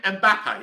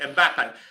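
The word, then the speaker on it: Mbappé: Mbappe, that's it, Mbappe.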